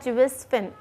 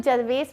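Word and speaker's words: Gervase Phinn: इट्स a beautiful pome written by जुवेस फिन। अच्छा, प्लीज़ इसको जरवेस वगैरह मत बोलना। दिस इज जुवेस फिन, जिसमें कि आर जो है इट्स साइलेंट।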